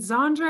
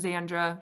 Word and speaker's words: Xandra: Is it Zandre?" And I'm like, "It's just Xandra, short for Alexandra. It's more simple than it sounds."